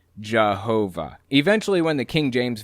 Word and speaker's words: Jehovah: yahuwah and of course using a german accent y's are pronounced like j's and w's are pronounced like v's so as it passed through the germanic region it morphed into jehovah eventually when the king